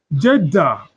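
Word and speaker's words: Kjeldahl: This girl is silent you call it what? Jeda.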